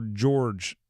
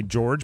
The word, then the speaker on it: Jorg: Uh former Gonzaga assistant, we'll say George, but it's spelled J O R G.